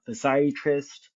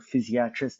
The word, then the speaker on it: physiatrist: with your general GP um a physsiatrist um who is a rehabilitation physician um or physiatrist depending on how you say it.